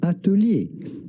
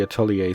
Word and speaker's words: atelier: so I'm going to How would you go about pronouncing this in French originally? Atelier. Atelier. But in English or American, this would be said atelier. Atelier. Really? This word is pronounced as atelier.